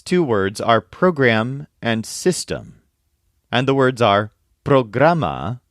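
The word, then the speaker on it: sistema: words are program and system and the words are programa spelled like the English word but with an a at the end and Systema spelled s i s t e m a system now this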